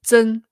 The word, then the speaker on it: 真: 是真，不是正. Yes, it's 真.